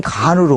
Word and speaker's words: 칸: 그러니까 그 사람들은 칸이라고 발음하는데 우리는 간으로 온 거지, 이게.